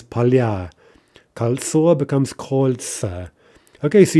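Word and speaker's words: поля: Polya, fields in the plural, becomes palya.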